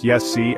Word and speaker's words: Iesu: Alan Wilson and Baron Blackett have stated the Qumric calling of the name Jesus is Iesu pronounced Yessi, and that Iesu or Yesu, Iesu, is almost identical to the Hebrew Yeshu.